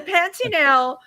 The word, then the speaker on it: Pantanal: It's like Pantera, the place you eat at, but the Pantanal, you had amazing animal experiences there.